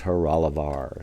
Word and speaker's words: Horolovar: this clock and they informed me it is heralavar so that's how you pronounce the name of this clock now you